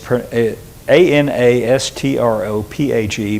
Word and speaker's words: anastrophe: the Greek word that's translated conversation here is a n a s t r o p h e pronounced prounced anastrophe.